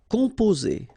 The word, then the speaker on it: composer: Okay, O and M together, after that a consonant, so it's the nasal on. Composer. Okay, you pronounce it Z here because you've got two vowels and only one S.